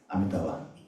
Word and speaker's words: Amitabha: So Amitab also has that small I at the end which is not supposed to be pronounced but we do right like yoga which is yog right.